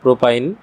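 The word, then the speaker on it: propyne: এবং এটার নাম হচ্ছে তিন কার্বন থাকলে এটা হবে প্রোপ। আর ত্রিবন্ধন থাকার কারণে উচ্চারণ হবে আইন। অর্থাৎ শুরুতে হবে প্রোপ। তারপরে আইন প্রোপাইন অর্থাৎ প্রোপাইন হচ্ছে একটা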